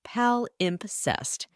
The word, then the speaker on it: palimpsest: It's a noun, pronounced palimpsest, and it's the kind of word that instantly